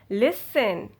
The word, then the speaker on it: listen: Soften, often, fasten, listen, hasten.